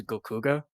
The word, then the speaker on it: GLKHGH: There isn't really a definite way of pronouncing it, but I've always pronounced it as Gokuga.